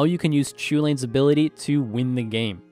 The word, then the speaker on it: Chulane: You may have heard me or other people pronounce this commander as Chulane, and the reason for this is I believe it's based off of a foreign name, which would be pronounced Chulane with a little inflection at the beginning.